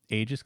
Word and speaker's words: Aegis: a bit of a rant but the actual pronunciation of the word ages because the real word is Aegis okay it's